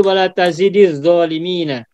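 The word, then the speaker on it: وَلَا تَزِدِ الظَّالِمِينَ: Caranya adalah sukun pada huruf dal dibaca kasroh. Sehingga menjadi wala tazidiz zalimina.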